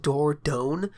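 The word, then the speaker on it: Dordogne: still think looks fantastic is this game called door down which is spelled d-o-r-d-o-g-n-e for those of you like myself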